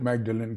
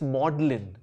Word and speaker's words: Magdalen: mispronounced magdalen college so what is the actual pronunciation well i've often seen it in print yeah and i've always myself called it magdalene cottage uh college uh so what is apparently it's modeling modeling yeah like the word modeling yeah yeah